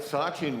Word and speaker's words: Sachin: from our second shooter with PJ all right Sachin welcome to the Lancaster Archery Classic Stage thank you yeah am I pronouncing your first name correctly yes it's correct